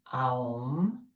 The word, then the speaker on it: Aum: top of your head as you say the 3 syllables A, U, Aum.